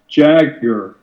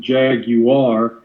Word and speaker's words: Jaguar: because in the movie the characters are the songs they're clearly saying Jaga not the UK pronunciation Jaguar I believe this movie was dubbed in Hong Kong and uh that accounts for the Japanese I mean the uh British pronunciation of jaguar and I wonder if